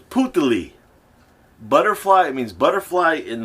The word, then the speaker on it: Putali: So it's Putali.